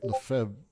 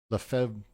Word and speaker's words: Lefebvre: To pursue a remark of Henry Lefebvre, sorry, I'm getting weird notifications.